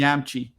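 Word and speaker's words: Yamiche: I think she says she pronounces it the same way I do, which Yamchi? is the correct way. Yamchi.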